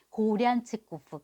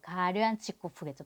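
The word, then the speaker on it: Горянчиков: 그리고 이제 이 사람이 이렇게 시베리아에 뭐 외지인들이 온다, 유영수들도 있고 관리들고 듣고 있고 등등등 한데, 그 중에서 자기가 알렉산드르 페트로비치 고량치코프, 가량치코프겠죠, 발음은.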